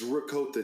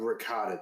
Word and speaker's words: ricotta: the cheese it's not ricotta and I will fight people on that I agree with that it's it's it's ricotta cheese it's not ricotta cheese being a music major